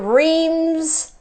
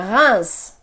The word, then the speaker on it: Reims: thing here is that we pronounce the R and the s but in the middle all three letters are one the same sound we have in bread